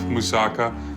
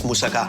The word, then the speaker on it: moussaka: I love moussaka, and when I saw it on the menu, I'm like, bonus.